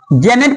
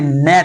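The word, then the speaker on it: gnat: इसे क्या पढ़ते हैं आप जेनेट पढ़ते होंगे लेकिन नहीं जेनेट नहीं नेट है क्या नेट में ता कुट की तो यहां पर जी साइलेंट है जी साइलेंट इसलिए क् जी के बाद एन आ रहा है देखिए इसलिए न पढ़ा जाता है जुन नहीं क्या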